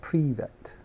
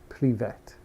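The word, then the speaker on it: привет: back cooking a dessert it's pronounced like privet privet pre-vet and so what is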